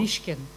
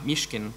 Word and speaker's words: Mishkin: Alexander Mishkin, aka Alexander Petrov, and Colonel Anatoly Chepiga, aka Ruslan Bosharov, entered the UK. What was that intervention from the floor? Mishkin. Ah, Mishkin.